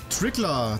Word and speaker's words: Trickler: Trickler, danke für 3 Münzen. Das wird Deutsch ausgesprochen. Zweimal.